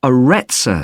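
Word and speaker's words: Aretsa: It's called the Arettza Center. That's spelled A R E T S A.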